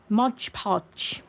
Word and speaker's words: Mod Podge: Well, Nikki, I was doing a video a couple of months back using Modge Podge cuz that's how I pronounce Mod Podge. I pronounce it Modge Podge.